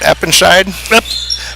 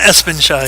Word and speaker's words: Espenscheid: That's the second on, how are we pronouncing that, Eppenscheid? Espenscheid. There's an ES in there, so we're going Espenscheid.